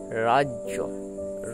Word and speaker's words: রাজ্য: জয় জফালা বর্গীয় জয় জ ফালা এর উচ্চারণ হবে জ এর মত বর্গীয় জুক্ত জ ফালা সমান বর্গীয় জয়ে জ ফালা জম রাজ্য র এ আকার রা